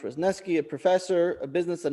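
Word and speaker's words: Wrzesniewski: paragraph in text three amy reznesky pronounced rosneski a professor a business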